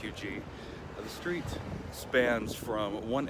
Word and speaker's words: Huger: people will pronounce it "hugger" It does have a French origin pronounced "you-gee" The Street spans from